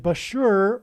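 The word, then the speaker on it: Bushehr: Bashur nuclear power plant, and Bashur rhymes with Barker.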